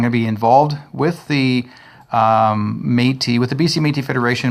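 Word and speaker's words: Métis: tea soy so and this is the way how you say it folks you can spell it ma y te e and it gives you a look like matey then you'll know exactly how we say it so I mean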